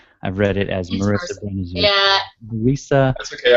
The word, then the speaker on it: Marisa: Okay. Marisa. Everyone does it. That's okay. Brenizer. Rhymes with Lisa.